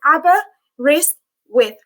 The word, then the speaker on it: Aberystwyth: let's get started so arborist with it's a full name um so how you say it is abba wrist with uh we are based